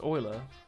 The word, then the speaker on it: Euler: It's pronounced Euler.